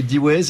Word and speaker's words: Deways: Et D-Ways existe uniquement en France ou bien est-ce que c'est une aventure qui peut s'internationaliser comme celle de notre invité?